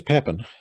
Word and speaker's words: Papin: on at the time so here's papin or i think it's probably supposed to be pronounced pape but i guess i'll use the angular angle-sized version so he was a